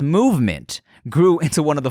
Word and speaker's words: MVMT: With fair prices, unexpected colors, and clean original designs, MVMT, pronounced Movement, grew into one of the fastest growing watch brands, shipping to over 160 countries across the globe.